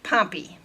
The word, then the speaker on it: Pompeii: it says pompeii but since we're in the midwest that is pronounced pompey so everyone in pompey is back in crazy